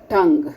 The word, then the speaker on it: tongue: Tongue, okay. U is silent here.